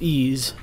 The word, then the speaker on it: EES: e s which is pronounced ease is an acronym for